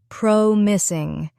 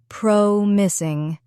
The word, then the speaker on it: promising: Let's take the word promising. It has three syllables. Prom is ing and the stress is on the first syllable. Prom missing. Try slowly with me. Prom missing.